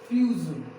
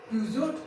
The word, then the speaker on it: Peugeot: Peugeot. ये क्या? इसे क्या पढ़ते हैं? इसे क्या बोलते हैं? इसका प्रोनाउंसिएशन क्या है? Peugeot? No, it's not a Peugeot. It's a Peugeot.